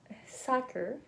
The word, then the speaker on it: soccer: sounds so let's see for the vowel soccer has oh oh ah so this is the same as in hot hot or college college I think so